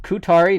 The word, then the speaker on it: Ku7ari: outside real quick into the woods it is pronounced kutari not COO sorry k UT a RI is the pronunciation